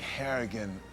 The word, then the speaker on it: Harrigan: I think I think Harrigan rhymes with arrogant it's a good way